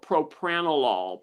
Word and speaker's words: propranolol: Joanne, do do you find or do you know if propropanol is that the correct uh pronunciation helps with the rage? Yeah, it's called propranol.